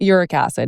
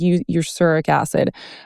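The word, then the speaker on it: erucic acid: I always forget how to pronounce it exactly. It's not uric acid. It's like uric acid.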